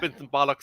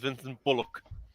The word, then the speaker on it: Vincent Bullock: He's not Vincent Bollocks, he's Vincent Bullock.